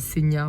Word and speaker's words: Senja: de Senia Senja enfin ça s'écrit Senja mais ça se dit Senia en norvégien euh et du coup